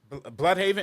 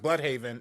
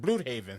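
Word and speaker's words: Blüdhaven: pronounced like uh uh blood haven. It's pronounced blood haven everywhere else but in this show they pronounced it blue haven.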